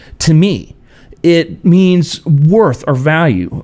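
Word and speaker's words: τιμή: The original Greek word for honor is pronounced "timi."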